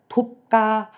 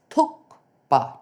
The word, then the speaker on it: thukpa: how you pronounce uh tukpa and uh my my journey still continues and here I know I get a wider audience. So guys, it's not tuka, it's tuka t h u kuk p a pa tukpa.